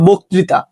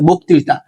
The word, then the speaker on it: বক্তৃতা: অ থাকে এবং তারপর রিকার যুক্ত ব্যঞ্জন বর্ণ থাকলেও সেই অ এর উচ্চারণ সাধারণত ওকারের মতো হয়, ঠিক আছে। যেমন শব্দের শুরুতে ও আছে, পরে রিকার আছে, যেমন মসৃণ, তারপর বক্তৃতা, ঠিক আছে।